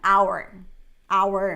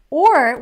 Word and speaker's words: our: our son our family so we have this two pronunciations we can say our our or we can say or right so or family is here and we had a lot of conversations about it it is so funny because I was like Iman it's not like it's you're saying or friend